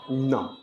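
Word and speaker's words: numb: के साथ ठीक है एम के साथ बी आए तो वहां बी को साइलेंट रखते ी ओ एम बी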